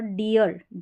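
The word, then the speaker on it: deer: और यहाँ पर डियर, इसको डीर या डियर दो तरीके से प्रोनाउंस करते हैं, मोस्टली कॉमनली डियर, ऐसे डियर, यानी डबल ई आर का ईयर करके, ईयर या ईयर उच्चारण।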